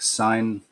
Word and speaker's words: Sin: __ ] yeah Nana or sin pronounced in the Aramaic sign or even sheer for Moon let's get out of